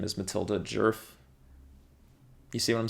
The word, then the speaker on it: Djerf: her name is Matilda jerf you see what I'm saying the D is silent the D is the